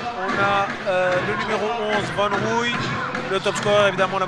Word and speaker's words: Van Rooy: Et première faute de Van Rooy. Je me permets d'accentuer la prononciation. Voilà, j'espérais qu'on aurait une petite touche Dutch, Van Dutch, tu vois.